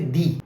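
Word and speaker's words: dix: And look at another word which ends with X, and here X is silent. Let's say the word like D means 10, so we'll say D.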